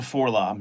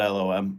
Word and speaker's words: 4-LOM: Bend is a 4-lom, not LOM, yeah. David McKay says they spell it out in the comics, so they call it LOM.